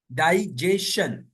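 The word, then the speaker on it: digestion: national कौमी मेंशन तरा अगर किसी वर्ड में एस के बाद टी आई ओ एन आए या किसी वर्ड में टी के बाद एस यू आर ई आए तो टी का तल चा होगा इसको न में रखे ए भी जो है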